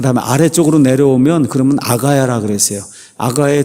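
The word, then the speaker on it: Achaia: 한 나라의 윗부분은 마케도니아, 아랫부분은 아가야. 이 영어식으로 발음하면 아카야예요.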